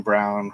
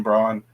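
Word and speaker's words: Braun: think uh losing Bruce Brown is gonna hurt but Christian Brawn you know stepped up really really actually I think it's brown it's just it's just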